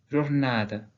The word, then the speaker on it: jornada: Ici, les A et les E atones à la fin d'un mot sont prononcés E sans qu'on puisse entendre la différence entre les deux.